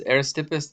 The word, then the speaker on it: Aristippus: was should be contrasted to uh epicurus because aristippus thought that um with the goal of life